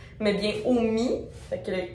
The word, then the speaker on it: OMY: C'est pas Omai, mais bien Omi. Fait que le Y se prononce comme un I. Fait qu'en tout cas, c'est pas Omai, c'est Omi. Omi Cosmétique.